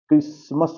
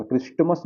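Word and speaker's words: Christmas: Fasten क्रिसमस होगा। क्रिस्टमस मत पढ़िएगा। ठीक है? क्योंकि यहां पे टी साइलेंट होगा।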